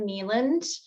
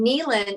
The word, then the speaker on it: Kneeland: So, some people would say Kneeland, but that's kind of how it's spelled. So that's like just so you have like daytime, and then Kneeland, like the land of knees.